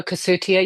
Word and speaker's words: Cossutia: Is it Kasuchia? Is it Is it how you say the name? in the show Cassutia. Yes, we were all asked